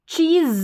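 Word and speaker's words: cheese: सी एच का उच्चारण च होता है, लिख लें, च, ई, और यहाँ पर जो है चीज, ज करके एस का उच्चारण होगा, लास्ट में ई साइलेंट है।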